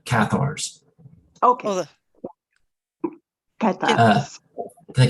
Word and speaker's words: Cathars: then with a female, how do you pronounce it, Catars? From the Catars in southern France or in France? But Cathars? sorry? Cathar. The Catars. Yeah. As far as I knew, they're called the Cathars.